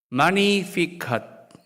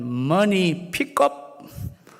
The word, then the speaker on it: Magnificat: 여기서 영어 magnify라는 영어 단어가 나왔는데 라틴어로는 G는 묵음이고 magnificat이라고 하나님을 찬양하다입니다. 이 단어에서 magnificat, 지금 막 누가복음 1장 46절에서 55절까지 나와 있는 마리아의 찬양을 이 라틴어를 뽑아서 magnificat이라고 부른다는 거죠. 잘못 읽으면 money pickup 아니고요.